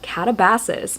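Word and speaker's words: Katabasis: And then we have Catabases by RF Kuang, which I have now confirmed that that's how you say it because RF Kuang said it that way in an interview.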